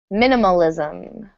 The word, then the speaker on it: minimalism: Number 6 is minimalism. Stress on that first syllable.